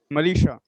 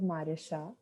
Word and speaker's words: Marisha: also about her experience malisha i pronounced my name as marisha yeah so um i